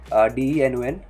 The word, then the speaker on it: Denon: Okay, so in Dino we have a third-party library, okay, third-party module, that is Denon, DENON. You can pronounce it as Denon or Denon, like, okay, so we can use that third-party library for hot reloading in Dino.